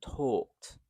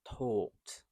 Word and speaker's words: talked: They walked and talked. So although it's an A here, we pronounce it as same as this O. We walked and talked.